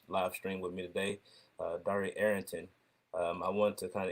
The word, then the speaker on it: Dari: Everybody calls me Dari. It's actually pronounced Dari, but I'm so used to hearing it. But yeah, so I'm Dari Arrington.